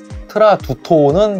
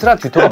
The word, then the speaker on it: Tradutto: 뭐라고 읽어야 되죠? 트라듀토인가요? 트라두토는 좀 아닌 것 같아서. 그런가? 트라두토는 좀 딱딱하잖아요. 모르겠습니다. 트라두토인지 듀토인지 모르겠는데 트라듀토가 맞아요.